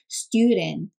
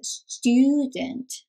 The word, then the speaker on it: student: 발음이 student. 저 액센트를 정확하게 살려야 돼요. student.